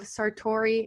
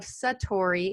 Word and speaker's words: Satori: So we have got Patrick Williams, who is the founder of Sartori, and excuse me, I think I said that wrong. The founder of Satori Innovation. Is that how you say it?